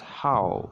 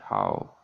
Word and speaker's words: Haug: attention of compatriot Norbert Haug. Norbert Haug is actually pronounced as How, I think. Norbert Haug. H-A-U-G, How.